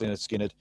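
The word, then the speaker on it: Lynyrd Skynyrd: i'm going to go leonard skinner again because i just love him and simple man 1973 again same album uh pronounced linda skynyrd the funny thing about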